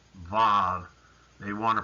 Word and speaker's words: Vav: But the letter actually had a V sound.